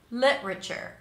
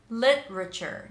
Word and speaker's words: literature: one three syllables lure literature literature notice that I'm not popping the T I'm kind of like holding it back lit then a r